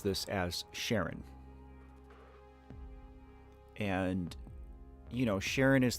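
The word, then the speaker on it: Charon: But the more I research this, I've actually seen this this name pronounced like three different ways. I've seen Sharon, Sharon, and Karen.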